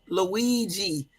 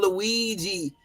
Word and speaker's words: Luigi: The Italian pronunciation of this name is Luigi Mangione. It's Mangione. Luigi. And next time you write it, Jermaine, it's L-O-O-E-E. And then, hold on. And then J-E-E. Okay, so Luigi. We just gonna call him Luigi.